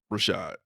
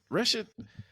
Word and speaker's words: Rashad: And so when I got there, they couldn't even pronounce Rashad. Like they was like Rashid.